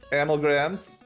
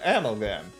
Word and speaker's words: amalgam: Figuring out amalgrams. Amalgrams? Is it amalgrams? Is that how I say it? No, amalgam. Amalgam.